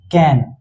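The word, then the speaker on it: cane: कि सी ए एन कैन और लेकिन सी ए एन ई ये क्या हो जाता है केन ये क्या हो जाता है केन क्योंकि ई का मैजिक था कि ये ए को क्या करता है?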